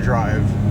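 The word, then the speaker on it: Dryke: in Squim on the peninsula located at 87 Dri Road in Squim, Washington, right off the 101 freeway. That's spelled D R Y K E and uh the city Squim.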